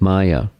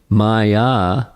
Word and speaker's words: Maya: It's based upon this diagram, or artist rendering, is a painting of Maya. Maya is a Sanskrit word with two syllables, ma and ya.